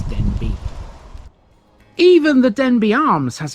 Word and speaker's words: Denbigh: It's a Welsh name. It's not Denbigh, it's Denbigh.